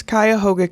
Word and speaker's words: Cuyahoga: It's interesting to hear people try and pronounce Cuyahoga County.